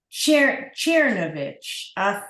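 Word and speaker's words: Czernowitz: Sie hat gesagt, als in Yiddish sagt man Czernovich. Der Akzent ist auf der ersten syllable.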